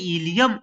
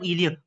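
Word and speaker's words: ilium: Same है, ऊपर भी प्रोनाउंसिएशन दोनों का सेम है, मीटर लीटर ऐसे इलियम इलियम, बट डिफरेंस कहाँ है?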